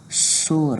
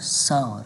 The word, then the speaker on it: sour: نشئ ورته ویلی یعنی اکثر خلک دې ته غلط تلفظ اخلي سور ورته وایي خو د دې صحیح تلفظ چې موږ سره کوم ده هغه موږ سره sour ده sour مطلب تروش words